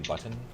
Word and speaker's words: button: I would just like to take the I'm time to sure thank you- you guys for actually pronouncing the letter T in button.